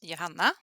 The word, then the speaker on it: Johanna: And I'm Johanna, the Swedish pronunciation at least.